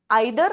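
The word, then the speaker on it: either: और उसके बाद आते हैं आइदर और नाइदर, जिसको प्रोनाउंस करते वक्त लोग ईदर और नीदर भी कहते हैं, ठीक है।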